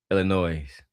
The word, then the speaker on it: Illinois: Don't Don't add an S on it. Illinois. No, it's just Illinois.